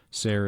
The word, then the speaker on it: Sayre: Zelda Sayre Fitzgerald, July 24, 1900 to March 10, 1948, born Zelda Sayre, Sayre is pronounced to rhyme with fair, in Montgomery, Alabama, was an American novelist and the wife of writer F.